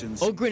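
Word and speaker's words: Ogryn: yeah yeah yeah yeah Ogen is the correct pronunciation but yes we all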